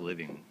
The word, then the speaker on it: living: To living.